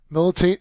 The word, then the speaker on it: militate: move on to militate militate is a verb first syllables accented it means to have